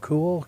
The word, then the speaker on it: KUHL: KUHL, cool, cool. Oh, that is KUHL. cool. That's cool. Cool. Yeah, yeah. Man, that is cool. That is cool. That's not Viore. That's cool. That's cool. That is cool.